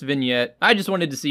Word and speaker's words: vignette: personal go-to favorite is under image effects called vigenite just kidding it's pronounced vignette I just wanted to see your reaction to